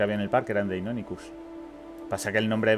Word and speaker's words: Deinonychus: A por Deinonychus, ¿verdad?